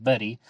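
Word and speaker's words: Bettye: harden and his wife betty i believe it's pronounced betty it's written b-e-t-t-y-e and they solve the 408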